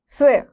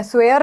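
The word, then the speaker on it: swear: स्वे, स्वे मतलब कसम लेना, आई स्वे, आई स्वे, आई स्वे, प्रोनाउंसिएशन देखिएगा, स्वे, र नहीं बोलना, स्वेयर नहीं बोलना, स्वे स्वे स्वे, कसम लेना मतलब कि सॉर सॉन, सॉर सॉन, ठीक है।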